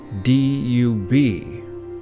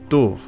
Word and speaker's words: dub: In Old Gaelic, black is spelled D-U-B, pronounced variably today as duv or du. However, when the sound changed is not clear, but it seems it must have been pronounced as a B when Vikings settled the area and adopted the name, crystallizing its sound in Norse and in English as dub, from Proto-Celtic dubus.